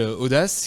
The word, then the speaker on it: ODACE: a monté une agence qui s'appelle audace qui produit alors au-delà ça s'écrit Oda c e c'est ça je vous donnerai pas de raison précise à part peut-être que c'est une ode à l'audace mais où globalement l'idée